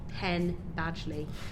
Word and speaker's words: Penn Badgley: prob what's his name pen badgely ken like pen and badly like badger and lee thanks i'm sure the